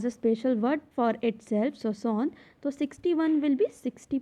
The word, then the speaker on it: soixante: Now for 60, for 60 there is a word soixante and it will be pronounced as soixante, soixante.